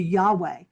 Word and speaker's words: Yahweh: kind of converted to Yahweh. So, I said, "Okay, so when you're inhaling, do the yah, and when you're exhaling, do the way."